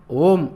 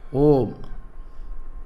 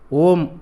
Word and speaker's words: ஓம்: plus உ plus ம் இதன் சரியான உச்சரிப்பு ஓம் என்பது அல்ல அ பாதி உ பாதிம் சேர்த்து ஒன்றாக உச்சரித்தால் வரும் ஒலி ஆகும் தமிழில் அந்த ஒலியை குறிக்க சரியான எழுத்து இல்லை எனவே ஓம் என்று அதை நாம் உச்சரிக்கிறோம் எல்லா ஒலிகளுக்கும் ஆதாரமாக உள்ளது